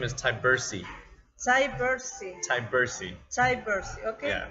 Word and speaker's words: Tyburczy: asked i i need to ask you to pronounce your last name uh my last name is tybursi cybersee tybersee diversity okay not so hard it's